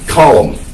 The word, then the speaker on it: Colum: at first known as St colum just c l m not column as on a page and